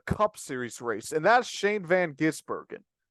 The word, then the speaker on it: Shane van Gisbergen: Let's move on to the winner of the Cup Series race, and that's Shane Van Gisbergen. And it's Shane Van Gisbergen, not Shane Van Ginsbergen, Shane Van Gisberger, or it's Shane Van Gisbergen.